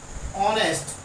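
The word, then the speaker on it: honest: अगर इस ओ से पहले, अगर इस ओ से ठीक पहले अगर एच आया हो तो उस एच का प्रोनाउंसिएशन नहीं होता, केवल ओ से पढ़ना स्टार्ट करते हैं ऑनेस्ट।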